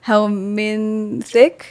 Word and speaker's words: helminth: I was like, helminthic therapy, the eating Helminth worms. Therapy. How do you say it? Helminth therapy. Helminth therapy. There's a Helminth with a TH.